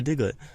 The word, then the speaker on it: Diglett: Yeah, Diglett.